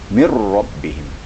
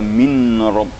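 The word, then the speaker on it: مِنْ رَبِّهِمْ: Dijadikan tasydid nun mati itu dalam bacaan, tapi dalam tulisan ada tetap mir rabbihim. Jangan dibaca min rabb ya.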